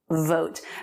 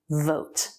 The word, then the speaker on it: vote: about the word vote that v can be difficult for spanish speakers the right position is you want to make sure you can still see some teeth and you should be able to hold it out vote vote the two